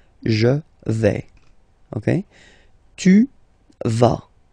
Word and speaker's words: tu vas: Okay, tu vas. Same thing here, final S not pronounced.